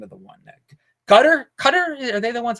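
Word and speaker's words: Qatar: one I forgot the name of the one gutter cutter are they the ones with cutter cutter is how you pronounce it it's a a GQ sound it's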